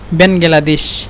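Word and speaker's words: بنغلاديش: এখানে বাংলাদেশ চলে আসছে ডাইরেক্ট, এখানে মূলত একটু ভেঙে ভেঙে বলতে হবে বাংলাদেশ, এভাবে বেন, তারপরে বেনগালা, বেনগালা, তারপরে দেশ, এভাবে আপনারা উচ্চারণ করবেন। বেনগালাদেশ, বেনগালাদেশ, এভাবে উচ্চারণ না করলে অন্তত তারা বুঝতে পারবে না ভালোভাবে।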